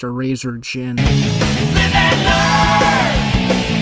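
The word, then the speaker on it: Erazor Djinn: It would be Eraser to Jin. Eraser to Jin. I just found out it's pronounced Eraser Jin.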